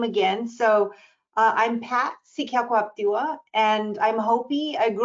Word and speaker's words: Sekaquaptewa: I guess I can pronounce my name again. So I'm Pat Sekaquaptewa, and I'm Hopi.